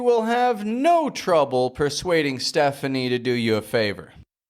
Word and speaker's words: Stephanie: We don't pronounce all of the vowels strong like Stefani, Stefani, but Stephanie, Stephanie. Only that first E needs to be enunciated.